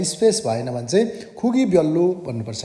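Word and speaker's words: 별로: एकैपल्ट बोल्नु पऱ्यो भने खुगी ब्याल्लो भन्नुपर्छ है त। त्यो ल लगत्तै माथि ल आयो भने दुइटै लको उच्चारण लल गरिन्छ, त्यही भएर फ्याल्लो भएको है त।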